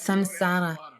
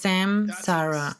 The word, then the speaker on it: saṃsāra: Okay, ja, die Aussprache ist Samsara. Was ist das für eine Notiz da unten am Rand? Bitte sprecht dies nicht als Samsara aus. Das ist ein Irrtum bezüglich des M mit dem Punkt darunter.